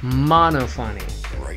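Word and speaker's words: Monophanie: to say her name he literally just said monophonic monophonic that was actually her Jeff warning mouna fine mo no fu n NY yes but literally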